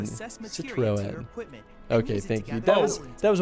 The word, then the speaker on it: Citroën: It's pronounced Citroën. Citroën.